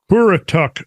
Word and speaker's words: Currituck: recognized on the mid-Atlantic continental slope in the Currituck Sound offshore region." I don't know if I'm pronouncing that right.